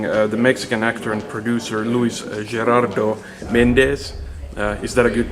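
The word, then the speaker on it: Luis Gerardo Méndez: So this is Jouni from Finnish Amusa interviewing the Mexican actor and producer Luis Gerardo Mendéz. Is that a good pronunciation?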